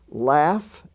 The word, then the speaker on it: laugh: we find out that the F sound can also be spelled GH as in such words as rough r-o-u-g-h or cough c-o-u-g-h laugh l-a-u-g-h laughter with the GH